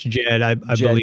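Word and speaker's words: Djed: Egyptian how do you say that word uh Jed it's just Jed killer yeah yeah what it represents it's symbolic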